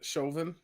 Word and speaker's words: Chauvin: Yeah, Chauvin.